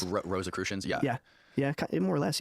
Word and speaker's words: Rosicrucians: Rosicrucians. Rosicrucians, yeah.